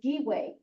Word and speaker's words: giwe: Yeah, so the verb to go home is giwe, Giwe. G-I-W-E. Anyway, that's right. So it'd be Nuigewe. You could say Nawikiwe, it would be. Or- Giwet.